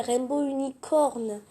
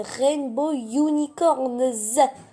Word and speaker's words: Rainbow Unicorns: Je m'amusais tellement, surtout avec les autres qui m'appelaient Rainbow Unicorn. Bon, déjà, faute de prononciation, c'est pas Rainbow Unicorn, c'est Rainbow Unicorns. Voilà. Tu prononces le S.